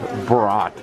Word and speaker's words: brat: You know, I think it means try to say don't be a brat, but anyone from Wisconsin knows that it's pronounced brat.